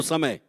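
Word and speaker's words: צום: अब्रा इब्रानी भाषा में दो शब्द आए हैं उपवास के लिए सोम एक शब्द आया टी एस ओ एम T silent है सोम सोम का मतलब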